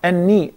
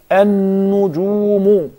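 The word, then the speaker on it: النُّجُومُ: And also now we're talking about the noon of an-nujum. It is not an-ni. Rather it is an-nujumu. An-nujumu. With pesh, not with there.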